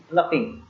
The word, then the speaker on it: ploughing: PLOUGHING, प्लपिंग। Here G is silent.